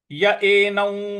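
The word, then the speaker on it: एनं: तो य ए नौ, य ए नौ इस प्रकार से बोलेंगे।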